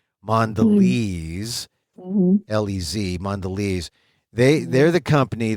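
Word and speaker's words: Mondelēz: big company and mandes m o nde l and then they have the accent over the e or not accent but the you know the the mark over the E so you know it's a long e mandes lez mandes they they're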